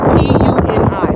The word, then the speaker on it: Puni: P-U-N-I.